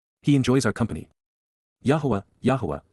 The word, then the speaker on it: Yahowah: Yahweh Yahwa the proper pronunciation of the name of Eloha God as directed in